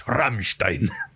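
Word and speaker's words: Rammstein: uh by r you have to say it like this Ramstein nine anyway thank you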